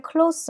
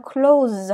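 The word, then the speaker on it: close: 클라우스 하면 가까운 면밀한 가깝다 할 때 클로스 는 쓰 발음이 나구요 문을 닫았다 할 때는 클로우즈 하 군수 발음이 나는 차이가 있어요 데 컥 허수 두께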